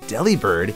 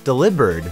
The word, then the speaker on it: Delibird: of delivery and bird because the V sound is typically replaced with a B in Japanese der is spelled the same as deliv in Japanese so that means we all could very well have been saying this Pokémon's name wrong all these years instead of delibird it should have been deliber mantin may have its